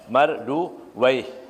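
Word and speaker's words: مردويه: Marduyah ada yang membacanya Marduwaih, ya.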